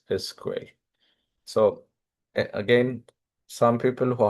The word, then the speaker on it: SQL: have their own language relational databases use SQL or SQL usually the common pronunciation is SQL I don't know where that came from because this is just SQL three letters but it's usually uh the industry standard pronunciation is like this word like in a movie sequel for some reason that's what is a common pronunciation but you can just